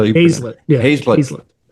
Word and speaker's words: Hazlett: Yeah, Hazlett. You're pronouncing it like it's spelled, though, so I never hold that against anybody.